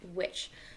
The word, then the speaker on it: which: It is spelled W-H-I-C-H, spells witch.